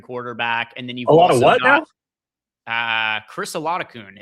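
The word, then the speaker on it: Chris Oladokun: and then you've got Chris Olakun, is I believe how his name is pronounced.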